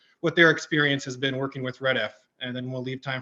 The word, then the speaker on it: REDF: So I'm just going to spend a little time at kind of talking about who REDF is, what we do.